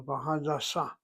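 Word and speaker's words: הדסה: The hospital, last syllable, Ba Hadassa. Not Ba Hadassa.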